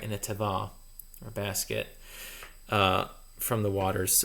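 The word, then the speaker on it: תֵּבָה: The Hebrew word that's used here is tevah. That's spelled Tevah.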